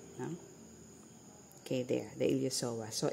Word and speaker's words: iliopsoas: So you have here the here the ilosoas no. Okay. There the ilosoas. So it's spilled iliopsoas but it's pronounced as ilosoas.